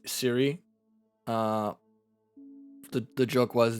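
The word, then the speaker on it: Cwy: ] with apple it it's spelled differently it is c-w y but still pronounced Siri okay I just spelled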